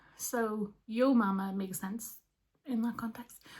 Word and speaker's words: Ewe Mamma: little yarn shop called, I pronounced it Ewe Mamma because it's spelled like the sheep, E-W-E. Turns out people in Fermanagh pronounce that yo, not you. So Ewe Mamma makes sense in that context.